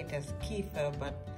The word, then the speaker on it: kefir: Spelled kefir, we say it as kefir, but it's kefir. That's how it's spelt.